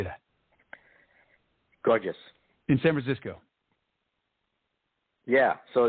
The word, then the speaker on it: Gorgias: Gorgias.